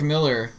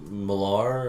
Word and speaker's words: Millar: Was it Millar you used to call him, but his actual name is pronounced Miller? Or I don't want to piss him off. It's Miller. I don't want to piss